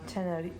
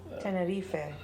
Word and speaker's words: Tenerife: and it's from the pronunciation is Tenerife. You say it like that, Spanish. Oh, Tenerife.